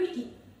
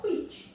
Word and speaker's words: Criegee: researcher, he's German, so it's rather for Criegee, but in German it's called Criegee, okay, rather Criegee.